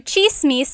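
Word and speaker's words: tsismis: One thing, in Tagalog, it's spelled with a TS. The TS combination makes that ch sound.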